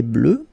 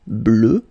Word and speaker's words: bleue: Phonetically, it doesn't exist because you don't pronounce it. So you get bleu as you would get for the masculine form, okay?